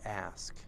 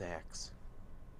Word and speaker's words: ask: How many people mispronounce it as axe? How many? I'm sure there are many. Let me ask you a question. So, they eliminate the S and they go to the K.